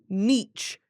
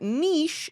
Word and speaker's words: niche: to pronounce nich British at this point in time in the US nich with a CH is still the more common pronunciation but Niche is gaining ground our